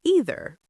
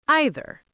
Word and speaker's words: either: Some people pronounce it as either. Some say either. Both are 100% correct in standard English.